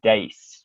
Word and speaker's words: Deis: on mispronounced your name you names pronounced ace right yes strictest yeah yes right